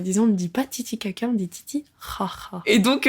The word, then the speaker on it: Titicaca: Un exemple notamment sur les îles du lac Titicaca, qu'on prononce d'ailleurs Titicaca, attention.